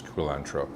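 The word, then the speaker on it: culantro: Ty Bazil cilantro kulantro no I didn't I'm not saying cilantro wrong kulantro some people refer to this as Sawtooth herb the correct pronouncation is kantro so you have your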